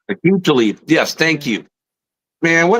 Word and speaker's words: Aqib Talib: Aqib Talib. Aqib Talib.